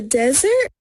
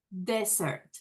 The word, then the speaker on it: desert: the Desert Samantha noon van a escuchar esta palabra que es muchas veces la confundimos a la hora de decirla escuchen aquí cuando ella pronuncia desierto to the Desert Desert que es desierto porque ahorita van a ver la diferencia con postre que se parece mucho y a la hora de pronunciarla tiene que ver esa